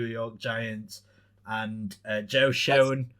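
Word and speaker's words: Schoen: giants and uh joe showing or shooting or shane shane apparently is the pronunciation the experts uh gm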